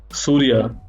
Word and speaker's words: Soorya: One funny question they asked, why your name is Soorya? So many people pronounce it as Surya.